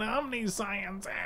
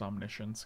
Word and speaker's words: Omniscience: and omniscience comes back okay stop calling it omniscient it's it's pronounced omniscience guys just in case you were this pack's